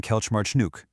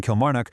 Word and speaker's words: Kilmarnock: going to do in Kelch March Nook?" That catastrophic mispronunciation of the Scottish town Kilmarnock was enough to scare Giroud into entirely rejecting Celtic and signing for Montpellier.